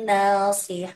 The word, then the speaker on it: ناصحون: Cuman di lafaz nasi itu kan huruf tebal, jangan sampai ketika kasroh ditebalkan, tapi tebalnya dikurangi Bu ya. Wahum lahu, jangan dibaca seperti ini. Wahum lahu nasi. Nah, tapi si. Nah, seperti itu Bu ya. Kalau misalkan ketika domah dan fathah tebal, cuman ketika kasroh tebalnya dikurangi. Jadi dibacanya nasi bukan si.